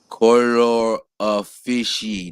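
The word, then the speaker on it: colore officii: This is pronounced color of fishy. This is a Latin word.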